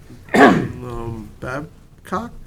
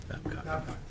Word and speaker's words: Babcock: Wayne Bruin is next, followed by Luke Babcock, or no, I'm saying the last name wrong. What is it? Babcock. Oh, Babcock, okay.